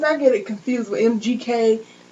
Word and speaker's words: MGK: get it confused with mgk that's what it is mgk not mjk my bad and we're